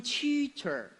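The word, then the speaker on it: 蛐蛐儿: 注意发音，蛐蛐儿。蛐蛐儿，对，草虫，不是屎虫。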